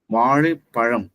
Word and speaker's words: வாழைப்பழம்: இது வந்து ரொம்ப முதல் வந்து லகரத்தை வந்து உச்சரிப்பதற்கு என்ன சொல்லுவாங்க பயிற்சினா இந்த வாழைப்பழம். ஏன்னா அந்த இடத்துல வாழைன்னு வரும், லகரம் வரும். இந்த பழத்துலயும் லகரம் வரும். அது வந்து சிறப்பாக சரியா உச்சரிக்கணும்.